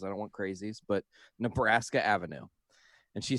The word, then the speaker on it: Nebraska: she said it wrong she didn't say turn right on nebraska avenue she said new brassica ave i don't even not